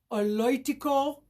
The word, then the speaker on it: oloitiko: Oloitiko. Could you see the pronunciation at the bottom? Oloitiko. I know it's a little tricky, but some words in Maasai are a little bit hard to pronounce.